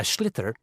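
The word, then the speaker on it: sliotar: this ball called a schlitter that's s l i o t a r so it's not spelled the way it's pronounced you hit it into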